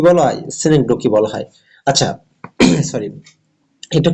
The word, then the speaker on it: synecdoche: এখানে যদি আমি ডিকশনারি একটা আপনার যে ইয়ে আছে যে সিনেকডোকি, এটা উচ্চারণ সিনেকডোকি, অনেকে সিনেকডোসি বলে উচ্চারণ করেন।